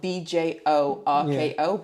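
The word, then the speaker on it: Björkö: So I was like, I want to go to this place, and it's spelled BJORKO, but the O's have these little umlauts on top of them.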